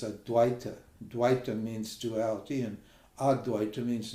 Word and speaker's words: Advaita: teacher these This Modern Dwight Dwight or ad they call it they don't even pronounce it properly the actual pronunciation is AD DWI means Duality and AD